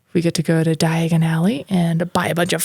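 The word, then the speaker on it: Diagon Alley: Keeper of the keys and diagonale yes which sounds like diagonally but Di Aly wow I was definitely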